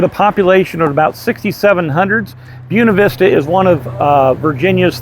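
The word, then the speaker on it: Buena Vista: last town we are in the town of buav Vista not buav Vista here it is pronounced buav Vista and in buav Vista it is so easy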